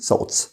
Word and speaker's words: thoughts: خلي بالك التي اتش بننطقها س والجي اتش هنا silent فبنقول thoughts.